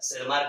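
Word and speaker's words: Tschermak: उसके बाद 90s में 1900 में 3 साइंटिस्ट आए, ह्यूगो डिवेरिज, कैरेंस एंड टैसरमार्क या सेरमार्क कहा जाता है, टी साइलेंट।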